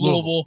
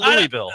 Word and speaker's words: Louisville: He went to Missouri, but Am I saying it right? Is it Louisville? Louisville. So not Louisville. I'm trying to get away from Louisville. Yeah. I did all right, Louisville. You can get away with that.